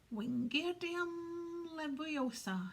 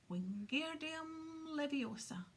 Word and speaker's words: Wingardium Leviosa: Wingardium Leviosa, he shouted, waving his long arms like a windmill. You're saying it wrong, Harry heard Hermione snap. It's Wingardium Leviosa, Make the gar nice and long.